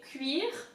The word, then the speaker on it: cuir: We don't say whatever this word's pronunciation is, but we say cuir de vache. So cuir is leather in French. Cuir, again the emphasis on the R. Cuir. Cuir. UI is oui.